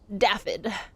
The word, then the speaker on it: Daffod: Daffod. I believe it's pronounced Daffod. They say it once in the game, and I think they pronounce it Daffod.